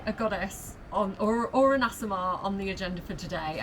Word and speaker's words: Aasimar: It's like AA, like Aasimar.